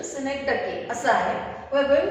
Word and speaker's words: synecdoche: The actual pronunciation of this synecdoche. Most of the people pronounce it as synecdoche. बरेचसे लोक याला synecdoche असं म्हणतात, पण त्याचं actual pronunciation synecdoche असं आहे.